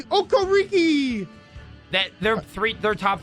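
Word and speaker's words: Okereke: Kono Brian Burns Bobby okar I mean that's disgusting you're saying it wrong it's Bobby okor RI that their three their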